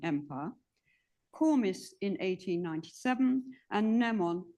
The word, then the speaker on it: Nemon: and has co-authored a biography of him finding nemon I might be pronouncing his name wrong I think yeah no